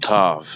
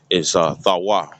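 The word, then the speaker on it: תו: It's not tav. It's thawa. That's a tha and a wa.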